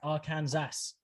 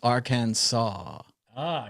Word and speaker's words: Arkansas: is that's our cat it's not our kansas or kansas people are counting down in the chat to whether i screw up and call it our kansas which clearly is how it's spelled but it's arcane ah cause i always wondered